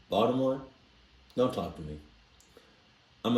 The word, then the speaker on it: Baltimore: First of all, anybody that pronounces the T in Baltimore, don't talk to me.